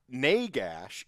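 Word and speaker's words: Nagash: Naygash is the pronunciation myself and my friend Sam and his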